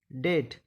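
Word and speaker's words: debt: B silent रहता है जब टी से पहले बी आए तो बी साइलेंट रहता है जैसे डी ओ यू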